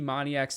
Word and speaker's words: Moniak: I still think Mickey Moniak's not too bad. Moniak, I think, is actually how you pronounce it.